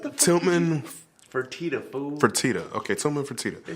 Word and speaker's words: Fertitta: That boy said Freddie Toledo. Bro, hold on, bro. I don't know how to say his name. What the fuck? Tillman Fertitta, fool. Fertitta.